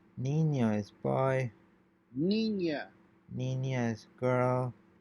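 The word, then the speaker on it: niña: have this symbol over n it's pronounced like ny so in this case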